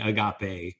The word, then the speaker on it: Agape: And good job 3 times pronouncing Agape correctly.